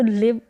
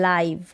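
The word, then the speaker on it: live: इसको प्रोनाउंस करते हैं एक तो लिव लिव का मतलब रहना आप किसी जगह की किसी स्थान पर रहते हैं तो लिव और एक होता है लाइव क्या होता है लाइव स्पेलिंग यही है उच्चारण है लाइव लाइव का मतलब जीवित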